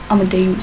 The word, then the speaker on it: Amadeus: Amadeus, sorry, that's how it's properly pronounced.